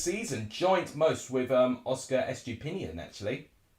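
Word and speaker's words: Estupiñán: Most goal involvements this season, joint most with Oscar Estupinian, actually. Or Estupinian, depending how you say it. I say Pinion, to be honest.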